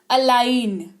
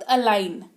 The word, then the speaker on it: align: अलाइन, जी सुनाई दे रहा है कहीं पर? लग रहा है इसकी स्पेलिंग में जी होगा। मान के चलो आपको नहीं पता इसकी स्पेलिंग, तो आप तो ALI लिखोगे ना, ALIN लिखोगे। मतलब मैं तो बोल भी नहीं पा रही हूँ गलत, ALIGN ही मुंह से निकल रहा है। लेकिन पढ़ते वक्त अलाइन, क्या पढ़ेंगे?